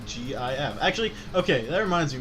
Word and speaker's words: GIF: You're the one saying it's Jif. Jif is peanut butter. Yeah, and it's also how you pronounce GIF.